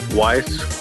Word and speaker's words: Weiss: What's interesting is these days most people pronounce it right, Weiss, which is the correct pronouncement. But back in the day, or pronunciation, I should say. Back in the day, in the 80s, I got called Weiss constantly.